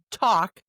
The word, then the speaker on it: talk: As in half, H-A-L-F, talk, T-A-L-K, and walk. Walk, talk, and half all have an L that you do not hear.